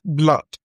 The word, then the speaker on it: blood: The reason is because the word blood is pronounced as blood. ot blood. That is the "uh" sound. That sound that looks like V, like V upside down.